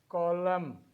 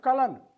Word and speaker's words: column: we have n n column we have autumn we have him here n is essential n is essential but the letter is silent so it is not colon it is column it